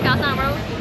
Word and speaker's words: Khao San Road: Yeah, Khao San Road.